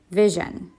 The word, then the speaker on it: vision: this word right here vision okay we would think that the I would be long but it makes a short sound just remember that that